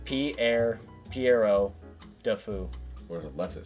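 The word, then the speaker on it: Pierrot le Fou: Pero Le Faux. That was an interesting one. Hang on, how do you pronounce this? Oh wow, that's awesome. I love that. Piero Le Faux. Piero de Fou.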